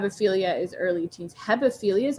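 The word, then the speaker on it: hebephilia: different oh have a philia is early teens hepophilia is how you say it degenerate is what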